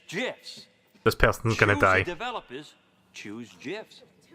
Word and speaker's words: GIF: the graphics interchange format Steve Wilhite says it's Jess this person's gonna die choose this person gun